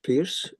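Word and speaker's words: Peirce: Another one this is a very interesting guy the called the American Aristotle Charles Sanders Pierce Pur you have to pronounce he has been very influential as a chemist, mathematician, logician, philosopher and logician.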